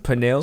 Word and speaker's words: pernil: Pernil. So it's spelled Pernil.